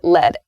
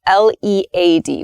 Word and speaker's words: lead: then lead so let's start with lead and lead l-e-a-d we can read them so we can read